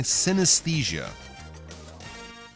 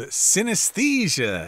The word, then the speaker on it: synesthesia: today we're going to talk about something called synesthesia. Okay, that's kind of a difficult word to pronounce because it's got the TH in there.